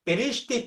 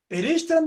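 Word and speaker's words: בראשית: 구약에 정확히 50번 나오는데 이 레시티라는 말이 정확히 50번 나오는데 그 중에 창세기 1장 1절은 앞에 베이트라고 하는 전치사가 붙어서 베레시티라고 발음하는 그러한 문장은 구약성경 전체를 뒤져도 딱 4번 나옵니다.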